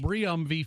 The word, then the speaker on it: Briumvi: Briumvi for MS. Guess what song Briumvi is now using.